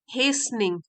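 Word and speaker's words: hastening: The eyes of द old mother were not सो डिम टू at least notice the reckless हेस्निंग, हेस्निंग, T silent है, from one path to another.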